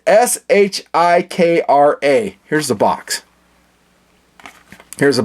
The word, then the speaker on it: Shikra: No, it's Shikra.